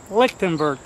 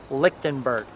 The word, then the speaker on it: Lichtenbert: Lichtenbert is pronounced lick, like in licking a popsicle, 10 like in 9, 10, 11, Bert and Ernie. You'll be saying it in your sleep tonight. Lichtenbert.